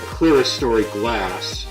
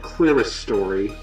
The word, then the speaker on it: clerestory: Clerestory windows is spelled clerestory. In Hoosierese, in Michiganese, we say clerestory, but it's clerestory, referring to a bank